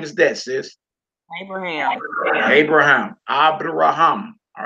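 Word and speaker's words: אברהם: So that first word all the way over to the right, accent on the last syllable, Abraham. Who name is that, sis? Abraham.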